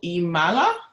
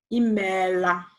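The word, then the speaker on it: Ịmela: Okay, I probably should have just said one O. I don't know how I made it double. Oh, okay. So, did I pronounce the last bit right though? Try again. Imela. Imela. Oh yeah.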